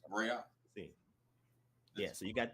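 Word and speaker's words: ראה: So the aleph represents a glottal stop, and then the ha is vocalized, right? So you got the ra'ah. So that's how it should be pronounced.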